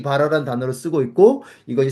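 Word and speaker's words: ברא: 아 발음인데. 그래서 그 바라 이렇게 읽는데 이게 창조란 뜻이거든요.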